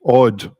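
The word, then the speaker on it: Aud: That's A-U-D, odd, as in a Viking princess, I think it was.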